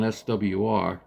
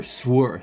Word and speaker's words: SWR: I'll check it on SWR or swer some people some idiots like they call it vizir just pronounce the letters that isn't won't take you that that damn long anyway so we put